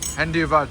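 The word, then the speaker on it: धन्यवाद: Dhanyawad.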